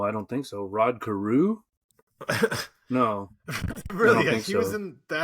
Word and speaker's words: Carew: And and Carew rhymes with Jew, so that was a good name to include.